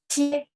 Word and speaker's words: 切: Jadi QIE itu biasa aja. Cie, yang penting Q bacanya CH. Cie.